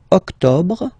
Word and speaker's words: octobre: Then same thing here. Don't insist on the final E. Octobre, octobre, octobre.